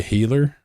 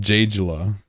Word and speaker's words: Gila: Have you ever heard me call it a healer? Like a southern person in the US? A healer. You're doing pasty white guys a disservice. That's my demographic. It's pronounced Jayla.